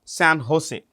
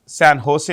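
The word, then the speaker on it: San José: uh the capital is San Jose if you want the capital San Jose okay see J is pronounced with an H San Jose is the capital of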